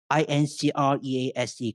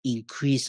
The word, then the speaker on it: increase: Words like INCREASE can be pronounced as increase or increase, depending on the word classes or what we call part of speech.